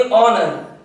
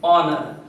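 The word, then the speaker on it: honour: लोग ऐसे लिखते हैं ऑनर, और पहला लेटर जो है ये एच साइलेंट है, एच का उच्चारण नहीं होता है, उच्चारण अ से होता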